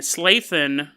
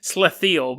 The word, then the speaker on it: Slathiel: And Slathin, I know I've pronounced his name differently each time. His name's actually Slathiel.